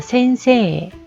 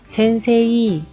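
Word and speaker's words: 先生: 에와 이가 만났을 때는 에이라고 발음하지 않고 에라고 장음으로 끌어준다라는 거죠. 자, 같이 볼게요. 자, 센세, 요 발음 선생님이라는 뜻의 센세, 센세이 라고 발음하지 않죠.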